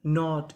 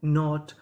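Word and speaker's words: knot: एन से पहले के लिखा मिले तो हम लोग के का उच्चारण नहीं करते।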